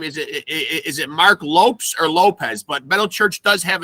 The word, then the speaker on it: Lopes: Is it Mark Lopes or Lopez? But Metal Church does have a new lead singer. Mark Lopes, yes.